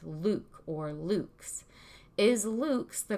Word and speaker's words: LVX: x the true symbolism for the light it's pronounced Luke's because it's a lot Latin for light and